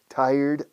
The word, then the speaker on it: tired: Taller mecánico, acentúa la primera sílaba. Stress the first one, taller. Y añade una D, tired. Ya te acercas bastante. Porque cuesta al hispanohablante pronunciar tired. Tired. Es sílaba y media más que dos sílabas. Pero vamos, yo lo exagero como dos sílabas.